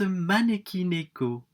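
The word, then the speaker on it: 招き猫: alors ermite manelli malik écoute bien ça se prononce maneki neko mais abel mois bernard c'est beaucoup plus rigolo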